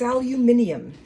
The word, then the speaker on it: aluminium: him about something and I was calling uh it aluminum and he took great exception to that and he told me it was aluminum and I said, "Uh, no, I think it's aluminum." And he said, "Well, I think it's aluminium."